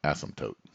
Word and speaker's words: asymptote: it's known as and i'm gonna try to pronounce it correctly asymptote there we go asymptote good it's been a while since i said that word asymptote many high school students have funny comments for